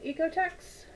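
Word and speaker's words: OEKO-TEX: okay oh oh Eco ecotex because right you don't pronounce the first vow when there are two vows together throw it back to kindergarten uh EOTech certification pretty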